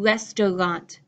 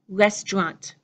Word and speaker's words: restaurant: saying try and trouble so instead of saying restaurant I'm saying restaurant restaurant which restaurant is your